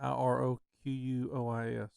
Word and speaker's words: Iroquois: Iroquois.